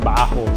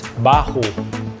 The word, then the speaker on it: Baahu: I know Filipinos if you're watching this it's pronounced I said bajo sorry my bad it's Bahu so guys when you come here and considering